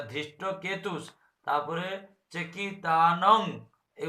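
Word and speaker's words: धृष्टकेतु: একটা হচ্ছে ধৃষ্ট কেতি হয়ে যাচ্ছে, ধৃষ্ট কেতি হবে কেন, সেখানে কেতু আছে, তাহলে ধৃষ্ট কেতুস, তারপরে চেকিতানং, এই উচ্চারণটা ভুল।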